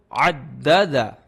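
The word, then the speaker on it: عدّد: The first time I pronounce Dal by its previous letter, that is Ain. Ain Dal Fatha, Ad Dal Fatha, Da, Ad Da. And again Dal Fatha will be Da. So Addada. Say Addada.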